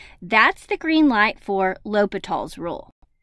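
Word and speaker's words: L'Hôpital's rule: the green light for l'hopital's rule i know it looks like it reads l'hospital's rule but we pronounce it l'hopital's rule once I discovered that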